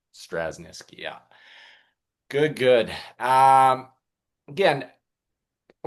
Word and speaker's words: Straschnitzki: It's Straschnitzki. Straschnitzki, yeah.